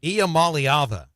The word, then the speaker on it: Iamaleava: Iamaleava.